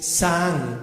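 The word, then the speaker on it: זעם: Para los que anotan, ahí va el hebreo H2193, que es Saan con Z, 2A y M al final, acento en la segunda A, que es estrictamente espuma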